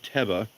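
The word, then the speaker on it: תבה: One is teba. That's pronounced with an accented elongated e.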